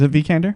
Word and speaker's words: Vikander: I love a little tiny little tiny Alicia vikander yeah is that how I pronounced name how do you pronounce your last name is a V candor Thank You candor okay uh actress from ex